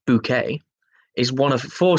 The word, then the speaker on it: Bucket: sitcom keeping up appearances mrs. bucket pronounced bouquet is one of the